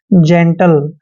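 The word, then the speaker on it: gentle: दोस्तों जब भी जी के बाद ई आता है तो जी का उच्चारण जय करते हैं, ई को ए की मात्रा पढ़ते हैं, एन का उच्चारण आधा न और टी को टे पढ़ते हैं, एल ई का उच्चारण ले करते हैं, जेंटल।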